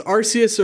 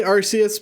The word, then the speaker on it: Arceus: recently yeah but um i say arceus because that's just what i knew for so long but i guess they changed it from arceus to arceus because arse is ass in